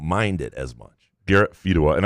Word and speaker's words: Fedewa: Garrett Fedawa, and apparently I've been mispronouncing that last name because they're realtors in this area. They're big people. I've been calling them Fedawas for years. Fedawa, I thought.